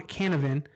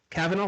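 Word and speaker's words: Cavanagh: show the flash so excuse me if i butchered this man's name you're tom canavan and carl valdez cavanaugh thank you i was trying to figure that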